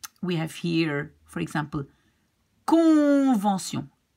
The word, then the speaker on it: convention: We have here, for example, convention. You pronounce the C here like K, because it's in front of an in front of an O.